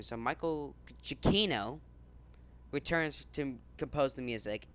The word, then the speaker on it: Giacchino: So Michael Gucciano. I keep on doing this again. Giacchino. So Michael Giacchino.